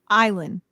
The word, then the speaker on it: Eileen: Is it like Eileen? Eileen. Mm-hmm. She taught me how to say her name.